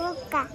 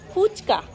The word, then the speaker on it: ফুচকা: কি খাবে ফুক্কা ফুক্কা ফুক্কা কি জিনিস আমি ফুক্কা বলে কিছু জানি না ফুচকা বল ফুচকা হ্যা